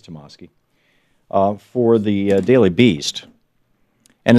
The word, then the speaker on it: Tomasky: Michael Tomasky wrote this, or Tomasky, I'm not sure how he pronounces it. I think it's Tomasky, for the Daily Beast.